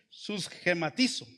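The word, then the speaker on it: συσχηματίζω: En griego dice susgematizo, lleva acento en la I, susgematizo.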